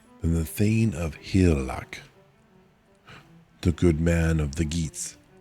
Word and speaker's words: Hygelac: The G is basically silent. Then the thing of hlac, the good man of